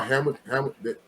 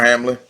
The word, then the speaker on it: Hamlin: DeMar Hamilton. Yeah, DeMar Hamlin.